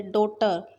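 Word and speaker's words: daughter: डॉटर, जी H silent है।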